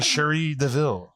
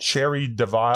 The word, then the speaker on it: Cherie Deville: Did I pronounce it correctly? Yes, you actually did, which is amazing. No one ever does. What do people say instead? Cherie Deville. Cherry, all kinds of crazy stuff.